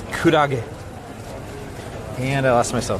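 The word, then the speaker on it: くらげ: Alright, so our first answer is jellyfish, which of course in Japanese you pronounce kurage.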